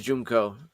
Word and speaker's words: Junko: Okay, so it is Junko. That's how she pronounced the name of the characters.